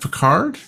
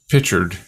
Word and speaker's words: Picard: no I'm not watching it's pronounced Picard I thought it was pictured yeah because they were